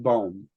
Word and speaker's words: bomb: here remember that the word bone would it's just bomb but don't pronounce the letter b b is the letter let's be silent oh last piece this